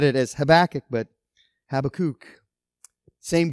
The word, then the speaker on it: Habakkuk: with my doctoral program always used to call him have a kook I guess that's how you say it in Hebrew uh you know I've always always said it as habakkuk but have a kook